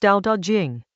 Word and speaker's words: Dao De Jing: Chapter 8 of the Dao De Jing, pronounced Dao De Jing, a text from ancient China whose title means